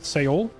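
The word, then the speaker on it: Seoul: Soul is two syllables in Korean. Is it really? How do they pronounce it? Seol. Cuz every every time I've heard it pronounced in any English speaking conversation, it just comes out like soul, like one word.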